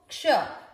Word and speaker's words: क्ष: इस अक्षर को क्ष, इसका उच्चारण कैसे करते हैं हम, आधा क और पूरा श, आधे क को यहां मिक्स करिए, क्योंकि आधा है वो पिछले वाले पूरे अक्षर के साथ जुड़ता है अधिकतर।